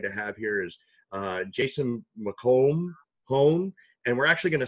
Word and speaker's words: McElhone: Yeah, the last name is actually pronounced McElhone.